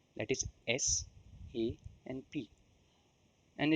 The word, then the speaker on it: SAP: do you say sap it is an initialism not an acronym therefore it is pronounced as individual characters that is S A and P and it's not called sap which has a different